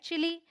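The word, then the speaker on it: chilli: बोलेंगे green चिल्ली य चिल्ली नहीं होता ये भी ध्यान रखिएगा स्पेलिंग में डबल एल है बट हम इसे चिल्ली नहीं बोलते चिली बोलते हैं चिली ओके फिर है हमारे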